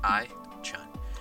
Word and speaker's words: iChun: And it's spelled exactly how it sounds, iChun.